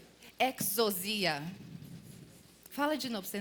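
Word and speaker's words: ἐξουσία: autoridade traduzida do grego ela fica como a pronúncia chama exos Fala aí exos exia exos exia Fala de novo para você não esquecer exos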